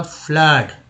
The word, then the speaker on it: flood: उसके FLOOD में उच्चारण ओ का वो अ के रूप में हुआ, फ्लड, फ्लड है।